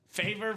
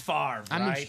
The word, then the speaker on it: Favre: Favor Favre. Uh, but it's far.